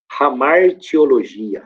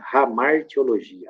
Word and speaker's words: hamartiologia: a Gabi não sei se é assim que pronuncia né hamartiologia hamartiologia h a m a r i e o